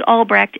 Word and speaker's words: Albrecht: i n e and my last name is albrech ALB re e and on that website